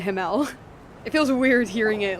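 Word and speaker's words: Himmel: Like I'm pretty sure it's because himl him is like the proper uh German pronunciation, but come on. It's been like six years that I've been hearing it himl.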